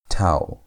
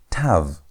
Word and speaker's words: Tav: Tao. It's Tao with a W sound at the end. Not Tav, it's towel.